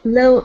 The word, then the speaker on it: little: try that a little little easier yeah give me a D sound lid Li little little